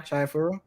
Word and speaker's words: Chihayafuru: 5 is Chihayafuru. Am I saying it right? Yeah. Chihayafuru.